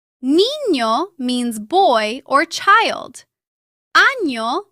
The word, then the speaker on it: niño: Its sound is similar to the N-Y combination in the English word canyon. Listen to these examples. Niño, año, España. Niño means boy or child.